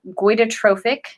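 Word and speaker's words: goitrogenic: juicing what are called goitotrophic foods. Goito, like goiter, Goiter, goiter. So goitotrophic, I believe is how you say it, foods, which are foods that cause strain on the thyroid.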